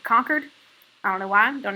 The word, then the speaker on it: Concord: con people say um if you're like actually from massachusetts you pronounce it conquered i don't know why